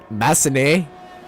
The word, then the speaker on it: Massenet: Don't pronounce the T. Why is there a T there? Then it's like Massenet. 224444. It's Massenet.